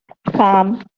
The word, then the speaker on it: calm: exactly very good so the L is silent okay now first thing